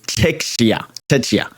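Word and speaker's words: Türkiye: turkey Georgia Portugal and teia tea that's how they like to be pronounced nowadays I'm going put Portugal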